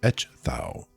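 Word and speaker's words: Ecgtheow: It's etch thou.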